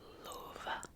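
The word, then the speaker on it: Löwe: Loa de l l not great at pronouncing words that have an O Lou um you kind of have to give it a little I don't know twang with your mouth um they yeah kind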